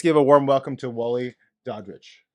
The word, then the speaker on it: Daudrich: remember this, I doubt if I'm rich. Yes. There you go. Dowdrich. Yeah, Daudrich.